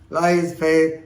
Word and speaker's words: laissez-faire: So, this is another French word, Laissez-Faire, Laissez, F-A-I-R-E, Laissez-Faire. It should be pronounced as lies, fair. So many people pronounce like that, but anyway, Laissez-Faire is the correct pronunciation.